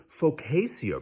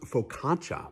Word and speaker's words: focaccia: and they called it focasia bread and i thought i hold turns out it's pronounced focaccia because cia in italian is shaw and nazia which means